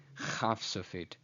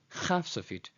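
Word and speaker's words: חף סופית: This is kaf sofit, so it's pronounced as k, k, k, and this is chaf sofit, pronounced as ch, ch.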